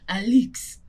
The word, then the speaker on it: Alix: So it's spelled Alix. And people will be straight up disrespecting her and calling her Alex anyway. But it's supposed to be Alex. Like an elixir.